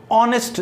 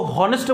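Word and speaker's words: honest: Shivansh is ऑनेस्ट, देखो इसका pronunciation क्या होता है ऑनेस्ट, ऑनेस्ट, कई लोग उसको हॉनेस्ट बोलते थे तो प्रोनाउंसिएशन गलत, तो आर्टिकल भी गलत कर देते हैं।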